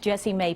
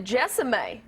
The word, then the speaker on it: Jessie Mae: This weekend, you can catch Jessie Mae at Comedy Off-Broadway. And we're so glad that you're here. Oh, yeah, You pronounced my no name kidding.